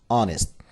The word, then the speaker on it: honest: we have here honest h is silent so we shouldn't say honest it is honest honesty means a trusted